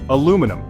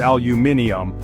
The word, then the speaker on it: aluminium: while Brit say shedule aluminum in the US it's aluminum but in the UK it's aluminium privacy Americans say privacy while